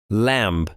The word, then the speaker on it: lamb: spider معنی ده غڼه غڼې ته په انګلیش کې spider وایي lamb, lamb.